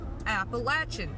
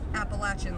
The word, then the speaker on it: Appalachian: teach the people of Washington about the word Appalachian I'm from there I know how it's supposed to be pronounced you are not from there therefore you